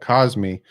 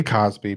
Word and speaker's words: Cosmi: cosby the tackle i was telling you about cosmic from texas great great great tackle there unanimous first team all 12. great player there great player it's great great pick by them it's hard not to say cosby because his name is pronounced cosmi cosby caused